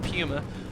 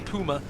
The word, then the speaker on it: Puma: No, we did a vote in chat earlier whether I have to say the English pronunciation of Pummer or the German Puma.